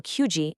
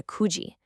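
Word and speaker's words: 九時: And for 9 o'clock, instead of the usual kyuji, it gets shortened to kuji.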